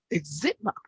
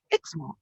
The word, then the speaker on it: eczema: So what was the American pronunciation of eczema? She said eczema Oh, is quite different. The British one was eczema, and the hmm. American pronunciation is eczema.